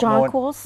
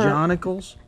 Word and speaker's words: jonquils: Jonicles. Jonicles or jonquils. Jonquils. Or see, I got ribbed last week on the Harrison show that I pronounced it wrong. I always thought it was jonicles.